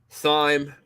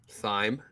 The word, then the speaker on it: thyme: Campfire, thyme, rosemary, a little bit of parsley. So why are you emphasizing the H? Thyme.